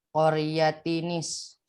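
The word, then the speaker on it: قَرْيَةٍ اسْتَطْعَمَا: Qaryatinis. Kenapa dibaca Qaryatinis? Nah, ada Karena itu bunyi, nun wikoyah Ustaz. ada nun wikoyah di sini di tengahnya ya.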